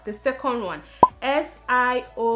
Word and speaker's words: Siobhan: The second one, S-I-O-B-H-A-N. Pronounce it, I'm giving you 2 seconds. Good. Now the pronunciation is Siobhan.